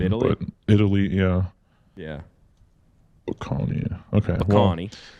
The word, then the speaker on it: Bocconi: How do you pronounce that to our Italian? Bocconi, I think. Bocconi, yeah.